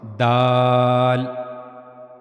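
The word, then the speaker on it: دال: the incizes upper incizers you have to use the top of your tongue This is the top of tongue and it will connect to the front upper incizers.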